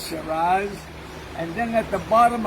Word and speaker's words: Shiraz: I love that number one I love a charades how you say it Shiraz Shiraz and then at the bottom of the totem